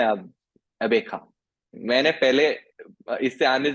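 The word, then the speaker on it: Gqeberha: कि पुराना नाम था, अब हो चुका है अबेखा। ऐसे ही अबे कुछ क्या? नाम है अब, अबेखा।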